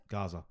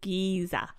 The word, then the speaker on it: Giza: specific huh which pyramids what did you say Gaza it's here anyway but it's the Pyramids of Giza oh geez I supposed to pronounce Gaza Strip Gaza Gaza Strip you weren't